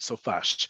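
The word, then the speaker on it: סופ״ש: So Sofash, and we pronounce it as a word, Sofash.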